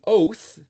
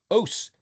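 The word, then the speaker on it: אות: sign, a symbol, an oath. It's pronounced oat if you give the phonetic T, tav, but the Ashkenazi use S, os, S for a tav. And some people use TH for tav.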